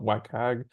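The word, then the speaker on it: WCAG: might hear often is I don't even how you properly pronounce it I always call it wag but it's the web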